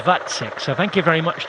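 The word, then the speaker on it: Vacek: the other day because I thought it was that check but it is vatsec so thank you very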